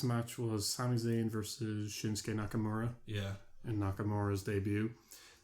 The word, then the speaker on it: Shinsuke: but they pronounce it shinuki well there's a u in it but the U is silent yeah um it's the